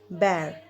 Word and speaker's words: bear: I have seen so many students they pronounce बियर. Okay, this is नॉट बियर, we will say this बेर. Okay, हम लोग उसे बेर कहेंगे, बियर नहीं कहेंगे.